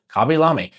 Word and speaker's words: Khaby Lame: Khaby Lame, and yes, that's how his name is pronounced.